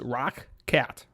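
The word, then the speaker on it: ROCCAT: These are the Rocket ones that I did a review on a couple weeks ago. By the way, it's pronounced Rock Cat.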